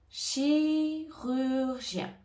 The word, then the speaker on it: chirurgien: mot chirurgien chirurgien alors ici on a le son che au départ C che chi avec le i chi rur gen ici je te conseille de séparer les sons dans un premier temps pour prononcer le mot et ensuite essay de le prononcer tout ensemble chi rurgien chirurgien chirurgien chirur gen donc au milieu on a bien le son u qu'on a revu tout à l'heure rure et gen pour la fin du